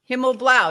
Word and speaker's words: Himmelblau: guest Bruce himl blah himl Blau close enough himl Blau did I pronounce that right yep good morning good morning